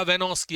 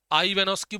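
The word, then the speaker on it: Ivanovsky: है आइवेनोस्की या वेनोस्की, आई इसमें साइलेंट आप बोल सकते हो, पूरा नाम है इनका डी जे वेनोस्की। आई वेनोस्की बोल दीजिए या वेनोस्की बोल दीजिए, आपकी मर्जी है, आपका प्रोनाउंसिएशन है, आप उसे कैसे बोलना चाहते हो।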